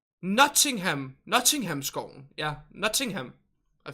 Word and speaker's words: Nottingham: say it like that notingham nodding him forest with Robin Hood like quiet you're pronouncing the teas too much is it like nothing nothing nothing nothing